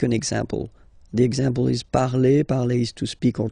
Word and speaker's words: parle: put the ending e, and then the way to pronounce it is je parle, parle. So remember, we put it, okay, but then we don't really pronounce it.